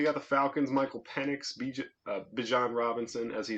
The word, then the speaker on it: Bijan: Michael Penix, Bijan Robinson, as he said in a press conference. It's Bijan Robinson, not Bijan Robinson.